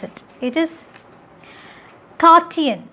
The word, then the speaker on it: Cartesian: the 17th century french philosopher that's how you pronounce it it is kartian not cartesian it is kartian this cartoon liberated an autonomous